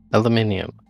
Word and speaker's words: aluminium: meant aluminum yes aluminium it's spelled aluminium but i think they misspelled it it's aluminum okay so it's it's it's like solder yeah it's like solder exactly it's spelled one way but americans skip every few letters just because it gets too complicated do you know what